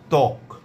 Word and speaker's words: ত্বক: যদি শব্দের বা পদের প্রথম ব্যঞ্জন বর্ণের সঙ্গে বফলা যুক্ত থাকে তাহলে পরে সে বফলার কোনো উচ্চারণ হবে না, তবে বফলা যুক্ত বর্ণটির উচ্চারণে সামান্য শ্বাসাঘাত পড়বে।